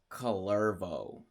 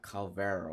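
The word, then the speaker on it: Kullervo: It's Calervo, not Calvero, or it's Calervo. The R, V, and the O right there.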